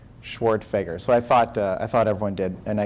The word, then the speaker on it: Schwerdtfeger: For anyone who's curious, my name is pronounced Schwartfeger. Schwartfeger.